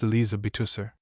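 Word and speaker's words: Elizabeth Huszar: He went in memory with his group of roistering friends to the house of evil where he had first met Elizabeth Hussar, pronounced Elizabethusser.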